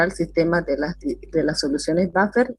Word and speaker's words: buffer: Sí, Buffer. buffer se escribe, pero se dice buffer.